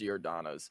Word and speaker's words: Giordano's: I believe it's Giordano's I think what Giordano's or geodanos I don't know but I'm pretty sure it's pronounced Giordano's but no that's that's the